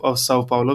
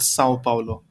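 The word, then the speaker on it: São Paulo: it Sao Paulo, and the little squiggly line on top of the A is called a tilde and it has a very nasal effect. So it's called Sao Paulo.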